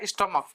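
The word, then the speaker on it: stomach: ठीक है, जैसे स्टमच नहीं है ये आपका स्टोमक, क्या है ये, स्टोमक।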